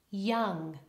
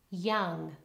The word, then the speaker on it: young: as the open vowel ah this is a bit of a trap for speakers of European languages often they want to round their lips when they see the oval especially Spanish speakers and Italian speakers so let's try ma mother mother and young okay the valdaire is ah it's not rounded at all young young and another